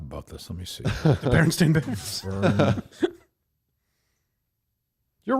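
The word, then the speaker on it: Berenstain: It's Baron Stain Bears, not Baronstein Bears. Right. Just you're pronouncing it differently.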